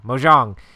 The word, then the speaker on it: mahjong: before it's like I'm gonna say it wrong bojong Mojang how you say yeah yeah mahjong it's it's basically that but you have your